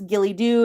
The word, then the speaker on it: Ghillie Dhu: a couple of syllables Gilly dooo is just a couple of syllables usually we just say